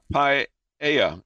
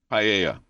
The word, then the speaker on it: paella: Paella is how you pronounce that. Paella. I mean, I'm going to trust him, but it's got the two L's.